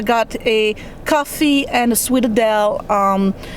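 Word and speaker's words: sfogliatella: I got a coffee and a Sweetadel. It's pronounced Sweetadel, but you actually spell it this way.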